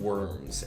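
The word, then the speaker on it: wyrm: uh great beings called worms and the um and it's it's it's l it's a worm like the thing you're thinking of but it's spelled w y RM yeah so um I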